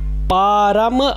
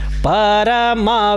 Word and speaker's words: परम: कि किया है जबकि यदि परम शब्द उच्चारण किया जाए तो परम शब्द में म में अ का साउंड नहीं आना चाहिए तो वह पूरा परम